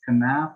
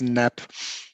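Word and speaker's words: Knapp: start is it uh do you pronounce it as canap or nap no with a K usually in Germany but I'm uh but I know um in the English spoken word it's always naap so no problem so it's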